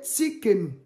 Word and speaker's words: Tsidkenu: comment ça s'écrit Tienou t s i d k e n u donc souvent u ça se lit ou voilà dans les autres langues donc on écritu mais